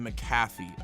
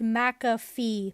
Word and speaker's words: McAfee: This happened on like day 3, and this is what we'll call the McAfee effect. Actually, I think it's pronounced McAfee. But there's no Mac in it, just a muck.